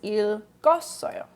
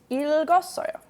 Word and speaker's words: 읽었어요: What happens is that you pronounce this first one and the second one carries over to the next vowel. So it's 읽었어요. 읽었어요 is how you pronounce it.